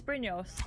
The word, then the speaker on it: Brynjolf: Brynjolf is Brynjolf. If you pronounce it correctly.